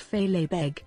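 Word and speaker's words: fèileadh beag: the little kilt known in gaelic as philippe pronounced fey labeg was born rowlandson and some of his peers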